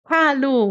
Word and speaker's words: hallo: Bom, hallo em alemão, hallo, o H tem esse som de ah, como se a gente estivesse embaçando um vidro. Hallo.